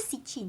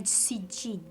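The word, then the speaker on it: Siccîn: Kalau baca tu Sitchin tapi sebenarnya cara dia punya kita pronounce adalah Sitchin.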